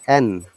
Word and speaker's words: and: n not end if if you find end at the beginning of the sentence it should be pronounced at end otherwise it is n like salt and pepper black and white okay would you like to